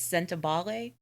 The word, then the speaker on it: Sentebale: I might murder this word. It's Sentebale. Yeah, I listened to the book on tape. I'm pretty sure that's how it's pronounced.